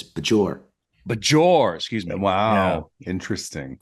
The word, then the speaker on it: Bajor: Which one is the proper pronunciation? I would say Bejor. Me too. A zh.